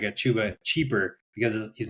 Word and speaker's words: Chuba: Chuba? Yeah, Chuba, he's a good one.